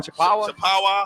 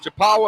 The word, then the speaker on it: Chippewa: Oh, how do you pronounce that again? Chippewa. Chippewa and what?